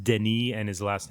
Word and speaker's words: Denis: yeah Villa yeah it's it's like it's it's pronounced Deni and his last name is pronounced like V